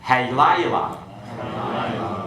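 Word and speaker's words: הַלַּיְלָה: Halayla, the night.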